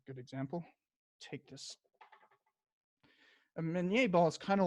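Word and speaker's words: Minié: by a guy named Minier. But Americans just mispronounced his name and thought that it meant small, as in mini. It actually comes from his name, Minier.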